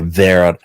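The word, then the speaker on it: Wera: it's vera or or we spell it w-e-r-a in german it would pronounce you pronounce the w as a v so where or vera vera and it's they make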